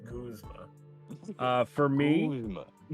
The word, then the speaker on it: Guzma: Guzma. Sorry, I pronounced it wrong. It's pronounced Guzma.